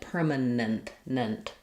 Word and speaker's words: permanent: And then nent, we're going to have another schwah between our ends, but we may use very little vowel there. So, it's going to sound sort of like permanent. Um, so you need a little bit of an uh or an i sound here between your two ends. Permanent. So, keep that last syllable pretty short and reduced.